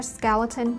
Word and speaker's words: skeleton: Cái chữ, the letter E, cái chữ cái E thứ hai chúng ta sẽ đọc là âm ơ.